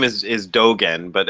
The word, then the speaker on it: Dōgen: the name is is dogen but everybody mispronounces it because we're used to seeing a g and an e you know we learn